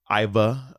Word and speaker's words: Ivor: Iva, as he pronounces it.